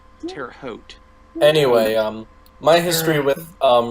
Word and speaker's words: Terre Haute: is Indiana yeah look they mispronounced my town name in it poor they tear up hot Tara home Tara hot Terre Haute anyway um my history